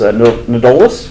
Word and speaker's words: Nedolast: We'll talk more about that, but we are honored to have Anthony, who states he doesn't care how his last name is pronounced, but I believe it's Nedolast.